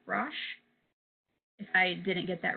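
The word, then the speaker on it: Brosh: So our anxiety and depression kit is Hyperbole and a Half by Ali, I think her last name is pronounced Brush.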